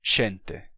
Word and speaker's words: xente: som como x atualmente então a palavra como gente no Galego atual é xente xente para ser xente